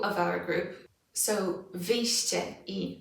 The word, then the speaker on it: wyjście: So let's look at wyjście. Cie, wyjście. Again, cie, wyjście.